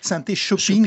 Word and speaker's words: Synthé-Shopping: L'idée de faire une seule fédération de commerçants qui pourrait s'appeler Synthé-Shopping, Synthé-Shopping, il faut bien prononcer les choses, pas shopping, non pas à ce heure-là.